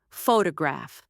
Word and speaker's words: photograph: For example, in the word photograph, we stress the first syllable, photograph. But when we add a suffix, the stress shifts, photography.